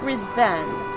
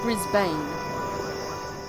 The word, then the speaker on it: Brisbane: sparse Pioneer town of Brisbane for those of you wondering how it's said uh it is said brisban not Brisbane we were settled into